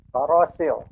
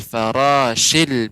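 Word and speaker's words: الفراش: Farasil. Nah, huruf shin ini dia tafashi, lebih menyebar udaranya dari atas bawah lidah, atas lidah ya. Ini huruf shin, sya.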